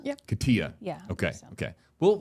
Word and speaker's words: Katia: How do you pronounce that one, you guys? Help me. I believe it's Katia. Yep. Katia.